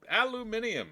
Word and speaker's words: aluminium: we have here 49 aluminum Alum aluminium as the British say now we got this